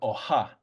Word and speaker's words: oha: Yellow would be oha with the H, oha. But then orange, you drop the H and it's just oa.